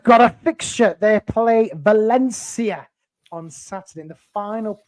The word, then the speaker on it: Valencia: would just like to correct you on your pronunciation Valencia Valencia Valencia Valencia Valencia yeah but